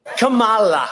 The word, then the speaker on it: Kamala: It's Kamala Harris. It's kind of like Kama plus La. It's not Pamela with a K, and it's not Tony Soprano's wife.